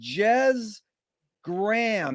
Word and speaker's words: Jez Graham: It's an honor and a pleasure to be here indeed with Jez Graham. Is that the correct way to pronunciate it?